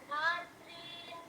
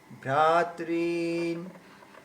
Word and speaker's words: ভ্রাতৃন: হ্যাঁ, তারপরে তারপরেরটা ভ্রা, ভাতৃন। ভ্রা, এই যে ভয় র ফলা আছে, ভ্রা, ঠিক আছে, ভ্রাতৃন, ঠিক আছে, ভাতৃন।